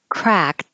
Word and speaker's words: cracked: C crack copen and the past tense cracked technically the e d sounds like a t but if you just say it by itself it's at the end of the sentence or there's a consonant after it you won't hear anything the egg crack my